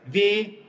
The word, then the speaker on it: Вей: Рейсит, жейсит, ударение на е везде. Повторяю быстро. Вей, сей, лей, рей, жей.